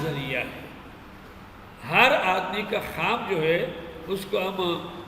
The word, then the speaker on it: خواب: میں پہلا خواب ہے۔ اس کا تلفظ خواب ہے، یہ خواب نہیں ہے، یہ خواب ہے۔ وہ لکھتے ہیں لیکن پڑھتے نہیں ہیں۔ Dreaming, day dreaming and